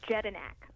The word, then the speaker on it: Jedinak: Sure, it's Jedinak. Jedinak. Okay, that's just like it's spelled.